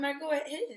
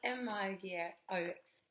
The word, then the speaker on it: Margaux: Margot, hej allihopa. Margot heter jag. Stavas M-A-R-G-A-U-X. Dasha trodde jag att det hette Margaux i början. Men det är Margot som Bordeaux eller Chateau eller på eller på en sån så.